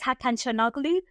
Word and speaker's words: Hakan Çalhanoğlu: They have got the best players, and it's Hakan Çalhanoğlu. We got there in the end. That's how you pronounce his name.